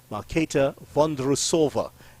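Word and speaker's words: Markéta Vondroušová: of The Wimbledon champion malkata van derussova is the correct way let me just say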